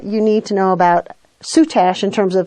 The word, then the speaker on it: soutache: so that's what you need to know about soot ash in terms of how to pronounce it what is it and what can